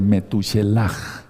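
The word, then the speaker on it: Metushelaj: Entonces habla sobre Metuchelaj. Yo lo pronunciaba mal antes, estaba yo aprendiendo hebreo y sigo aprendiendo hebreo, pero es metuchelaj.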